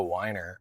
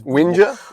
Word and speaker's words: whinger: What a whiner. It's whinger. Whinge.